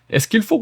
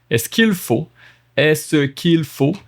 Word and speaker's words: Est-ce qu'il faut: Est-ce qu'il faut? Look at that. Est-ce qu'il faut? 4 syllables. Est-ce qu'il faut? 3 syllables.